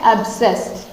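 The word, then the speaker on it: abscess: पहला क्या है, एब्सेस, ठीक है, एब्सेस। एब्सेस का मतलब होता है फोड़ा, ठीक है, एब्सेस ऐसे बोलेंगे इसको।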